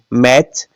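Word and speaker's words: match: क्या बोल दिया ऑन यह देखिएगा लास्ट में टी सीच है बोलते क्या है मैच तो टी क्या हुआ साइलेंट हुआ अब देखिएगा कैच लास्ट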